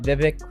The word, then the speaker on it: Vivek: We got Vivek Ramaswamy. Did I say that correctly? Pronounced correctly? Pretty close. Vivek, like cake. Vivek cake, like okay. Like yeah, cake.